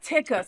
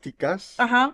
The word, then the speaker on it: Tikas: go Alex tickas or Alex tickas or or taikas, right? And I always say it kind of Latino. Is that bad? No. Well, or they go oh her. Oh, her. Alex Tikas is the right way to say it.